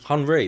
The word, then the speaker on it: Henri: Henri.